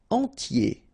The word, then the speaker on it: entier: Entier. So remember, I-E-R, I-E, okay, and then the T, tier, and the nasal before, en, entier.